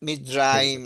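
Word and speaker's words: מצרים: No es Eso. Mitzrayim, es R. Mitzrayim, no es R. Mitzrayim. Mitzrayim. Lo que pasa es que cuando lo decís rápido decís Mitzrayim. Parece que fuera R.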